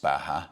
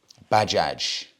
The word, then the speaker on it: Bajaj: bike of choice and it's not pronounced Baja because it is not a Spanish brand it's pronounced Bajaj and I'm hoping that's